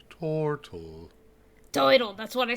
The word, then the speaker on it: Tortle: Are we there, Turtle? It's pronounced Tortle.